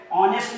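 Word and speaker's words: honest: ऑनेस्ट में आपका H silent है।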